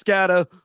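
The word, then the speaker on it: Skattebo: Well, it's the Halloween season, so it's only appropriate uh I pronounced the last name correctly. It's Scatteroo.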